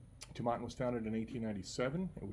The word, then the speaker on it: Tomatin: looked at the site I got three different three different pronunciations finally on their Facebook page there was a video of actually the guy who actually met when he came here in the Beaumont from the distillery and he was pronouncing so we're gonna go with tomaten okay so anyway Tabata is